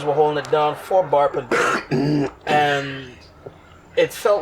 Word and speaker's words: Bar.ber: Is the name really Bar.ber? Because I would always say You just say barber. barber. You say barber, pero you spell it Bar.ber.